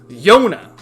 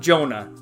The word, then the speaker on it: Jona: oh yeah Tio and it's pronounced Yona not Jonah Yona our favorite neat